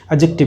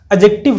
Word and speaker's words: adjective: जब भी ए और जे के बीच में डी आता है तो ये डी साउंड नहीं करता है, इसका प्रोनाउंसिएशन नहीं होता है, तो इसको एडजेक्टिव बोलते हैं।